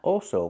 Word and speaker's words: also: Not also, but also. We have two different vowels. We have the aw sound first, like ball and wall. Aw. It's back here. Contract back here. Aw. All. The dark L.